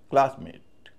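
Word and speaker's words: classmate: लेकिन जब बोलते समय क्लासमेट क्लास पे जितना जोर है मेट पे उतना नहीं है क्योंकि नाउन है क्लासमेट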